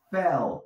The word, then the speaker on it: fell: Fell. No digo fell. La L la tienes que pronunciar como si te estuvieras tragando la lengua. Fell. Así suenas más nativo.